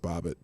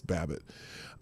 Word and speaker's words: Babbitt: of Ashley Babbitt actually Bobbitt Ashley Bobbitt it's pronounced Bobbitt even though it says Babbitt um in fact here